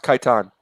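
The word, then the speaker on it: Kaitain: Kaitan. Kaitan. The Emperor's planet. planet. Khitan. Yeah. It's pronounced Khitan.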